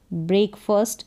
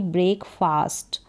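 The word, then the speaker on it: breakfast: हॉट आई हैड ब्रेकफास्ट इसको पढ़ेंगे ब्रेकफास्ट ना कि ब्रेकफास्ट ब्रेकफास्ट आई हैड हैड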